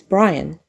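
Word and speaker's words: Brianne: In this 1982 TV movie we're going to talk about today, Linda Carter plays Brian, pronounced like the guy's name, but spelled like Brienne.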